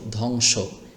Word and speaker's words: ধ্বংস: এভাবে ধ বং অনশ্বর ধং স ওকারের স ধ্বংস। এখানেও একটি মনে মনে এরকম ওকার ধরবেন। যদিও এখানে ওকার নেই কিন্তু মনে মনে ওকার ধরে পড়তে হবে।